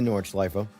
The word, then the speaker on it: Nordschleife: I'm really practicing saying my E at the end of it, by the way. It's like Porsche and Porsche. There is a right way to say it, and I'm trying to remind myself to do that.